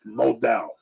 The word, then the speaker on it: modal: every pair of meundies is made from Source modal a fabric that's twice as soft is cotton okay pronounced modal m o d a l nothing can describe